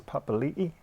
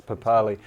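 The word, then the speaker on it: Papali'i: sorry one I now should we be pronouncing this pop alii like that like the like the man from the Warriors I think daven josh says that it's papaw Lee but I know if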